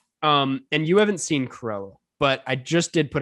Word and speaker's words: Cruella: Cruella. Because you really speed it up and just skip the U.